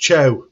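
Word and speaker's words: Thiaw: but no by the way apparently theor is pronounced cha yeah that's crazy CIA CIA Malik Chia so there you go wow one that's interesting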